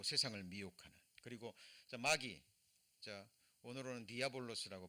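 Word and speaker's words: διάβολος: 그리고 마귀, 오늘로는 디아볼로스라고 발음이 됩니다.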